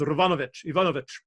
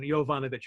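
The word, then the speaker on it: Yovanovitch: Her name is Ivanovich, which would be how you would pronounce Y-O-V-A-N, Yovanovich. You go Yovanovich.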